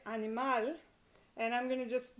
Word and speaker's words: animal: All right, now if a word ends, say for example, in a consonant that is not N or S, like doctor, then the naturally occurring stress is on the last syllable. So, for example, doctor, animal, that ends in an L. So, and you say it animal, and I'm going to